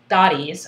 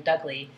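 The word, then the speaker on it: Doty: was after taking Aaron Dottie's. I've been saying his name wrong all this time. I think I've been calling him Aaron Dougley.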